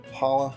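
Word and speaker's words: challah: start off with the Hala French toast so the CH didn't know that's how it pronounced when I initially made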